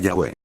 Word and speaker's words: Yahweh: Al mismo tiempo que nos inclinamos a reconocer la pronunciación Yahweh como la más correcta, hemos mantenido la forma Jehová, debido a la